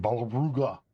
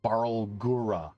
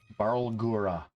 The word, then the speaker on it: Barlgura: All right, I have to roll for some Balruga. How do you pronounce that? Barlgura. The Balgura. Barlgura.